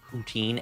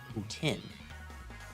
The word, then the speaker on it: poutine: We pronounce it as poutine and not poutine.